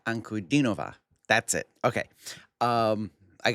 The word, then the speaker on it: Ankudinova: And as you can see guys, we're going to do some more Danna Ankur Nova. Oh, my bad. Danna Ankurova.